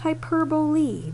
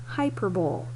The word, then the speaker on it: hyperbole: It is pronounced hyperbole, not hyperbole.